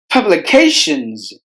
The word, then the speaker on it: publications: the letters worker Publications Publications there are five syllables in this word herb Lee K shuns out of this five syllables we have distressed the middle syllable that is hey Publications